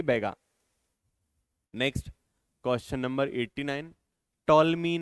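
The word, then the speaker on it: Ptolemy: इसको टॉलमी पढ़े, पिटोलमी पढ़े, ये बड़ी दिक्कत है ना इंग्लिश में। कभी पी साइलेंट, कभी टी साइलेंट, समझ में ही नहीं आता है। तो टॉलमी ने भीलों को नाम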